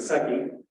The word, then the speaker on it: Secchi: The reason I mentioned this was invented back in the mid-1800s by a gentleman by the name of Secchi. Am I pronouncing that right?